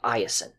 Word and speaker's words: Iason: a son named Jason in ancient Greek his name is more properly iason but Jason is the more commonly used pronunciation today Jason is going to be